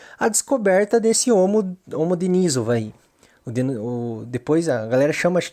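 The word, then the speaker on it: Denisova: também surgiu do homem-aranha da Ásia o homogenizova de nizova o jeito certo de falar que é um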